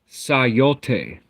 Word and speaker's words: סיט: So, the the pronunciation becomes um Sayoteh, Sayoteh.